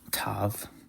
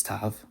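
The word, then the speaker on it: ת: But when the Tau doesn't have a dot in it, it's pronounced as a TH. So like the TH in the English word thin.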